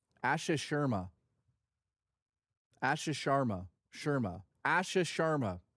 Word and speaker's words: Asha Sharma: Asha Sharma. Asha Sharma.